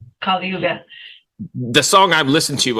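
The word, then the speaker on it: Kali Yuga: sin stuff especially I don't know how to pronounce the um the title of the record is it kuga yeah that's right kuga the song I've listened to uh obviously is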